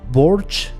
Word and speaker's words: Borch: this episode started and Bork showed up by the way they pronounced it borge here I think I am gosh three jackdaws and Bork in the audio books but anyway so when